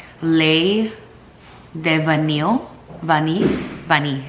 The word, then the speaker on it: Vanille: Vanille, I think it's pronounced in French.